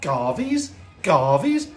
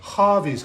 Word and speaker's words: Garvey's: I was like, Garvey's? What's Garvey's? Duh, Harvey's, because G's are pronounced like H's, and I felt so stupid afterwards, but there we go.